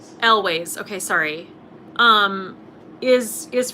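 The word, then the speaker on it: Elwes: image i have in my head of carrie ellis is that how you say his name elways okay sorry um is is from princess pride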